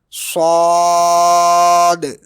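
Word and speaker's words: ص: Next letter is sod. It is pronounced thickly with pressure from the tongue like sod. It is pronounced with whistle as well as echo at the end like s at the end.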